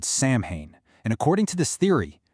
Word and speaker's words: Samhain: Samhain, and for the record, it's pronounced Samhain, was essentially the Celtic New Year.